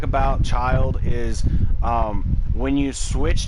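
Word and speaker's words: Childe: uh we we're just going to call him child because that's how it's pronounced in the game uh child is a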